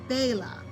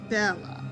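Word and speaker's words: Béla: back in the day he pronounced his Christian name baa as it is traditionally not Bella was a philatelist which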